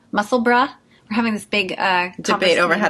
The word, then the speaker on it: Musselburgh: to say it yes so it's funny because we have a town here called Pittsburgh and it's spelled b-u-r-g-h and we call we call it no one calls it Pittsboro Pittsboro so um but in Scotland they do say Edinburgh and musselburgh so uh yes so